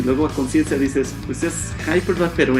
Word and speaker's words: Conscientia: y dice así entonces se pronuncia conciencia como dices tú entonces así es como